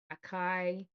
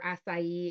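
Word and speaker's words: açaí: same it's a nice crisp aai or asai excuse me let's say it properly um a nice tart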